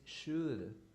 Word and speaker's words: should: only say answer should eliminate the l when you say only should it should should good